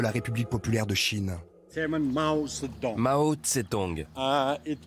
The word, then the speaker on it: Mao Zedong: Mao Zedong. On peut aussi le prononcer Mao Tse-tung.